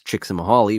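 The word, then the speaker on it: Csikszentmihalyi: pronounce it easily either I'm pretty sure it's chicks and mahali which I say only because I've heard somebody else say that I'll admit but flow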